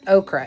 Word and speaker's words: ochre: Yeah, it's spelled ochre, like O-C-H-R-E, but okra is how it's pronounced, right?